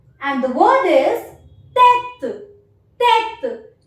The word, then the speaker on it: tête: And the word is tête. Tête. Even if I do not place this accent, the pronunciation remains same because this accent has no pronunciation.